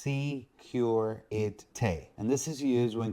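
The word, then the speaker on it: sécurité: first one is security this is pronounced secureity and this is used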